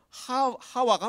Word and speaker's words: 하와: 사실 이게 하와에서 이브는 완전히 뭐 전혀 다른 발음인데 이게 단계를 거치다 보니까 이렇게 전혀 다른 발음이 돼버린 거죠.